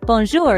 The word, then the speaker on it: bonjour: Now, bonjour is pronounced bonjour, with a soft J sound.